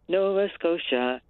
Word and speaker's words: Nova Scotia: nice rhyme scheme and I liked being able to pronounce noasa but the accent I put on the first syllable so that it would rhyme Nova scoa Saratoga Saratoga but I